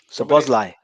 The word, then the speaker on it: Szoboszlai: Szoboszlai. Szoboszlai, that's it. Szoboszlai. I didn't pronounce that earlier.